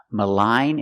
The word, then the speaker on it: malign: And we have these two words, malign and malignant. We see the GN at the end. The G is silent.